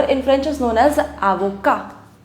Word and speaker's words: avocat: Now, an advocate or a lawyer in French is known as avocat. Avocat. In French, we do not pronounce the last consonant, which is T, so we don't pronounce it.